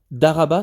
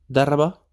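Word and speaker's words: ضَرَبَ: Moi, du coup, je t'ai écouté où tu m'as dit, après ma prononciation, attention, Daraba, c'est ça? Daraba.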